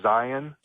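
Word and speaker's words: Zeihan: You might want to check out a guy named Peter Zion with a Z.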